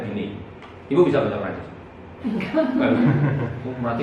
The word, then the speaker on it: Binet: Tulisannya Alfred Binet tapi bacanya Alfred Binet.